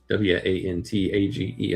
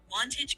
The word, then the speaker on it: Wantage: W A N T A G E. Am I pronouncing that right, Lexi? You're very close. Wantage is typically pronounced with a short O sound like wantage.